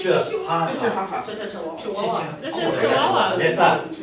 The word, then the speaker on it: Chihuahua: they say Chihuahua.